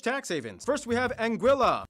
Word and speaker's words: Anguilla: havens first we have anguilla yeah that's how you pronounce it named after the spanish word for eel because the islands are